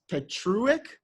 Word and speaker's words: Petruck: Now, Matt, I feel like I am going to get his name wrong, but Chance Petruck? Yep. Okay, got it right.